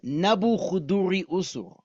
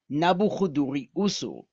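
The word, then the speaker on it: Nabû-kudurri-uṣur: And that is that his name in Akkadian, which is the language which he spoke, this is how you say his name: Nabuchuduri Usur, Nebuchadrezzar, Nabuchuduri Usur.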